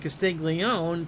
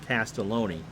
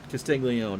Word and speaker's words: Castiglione: So 1 out double, and that'll bring up Castiglione. Pete is 0 for 1. Matt, if you're still here, I'm assuming that it's pronounced like Joe's last name and not Castelloni.